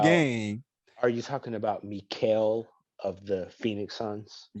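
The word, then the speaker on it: Mikal: Are you talking about Mikael of the Phoenix Suns? Oh, Yes. his name Mike. Oh, Yeah, I thought it was Michael too. it's it's spelled Michael, but from how I hear it, it's Mikael.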